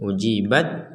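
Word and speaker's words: أجيبت: Nah, ini ujibat da'watukuma. Di sini huruf taknya tidak ada tasydid, tapi kalau berhenti kita tetap membacanya ujibat.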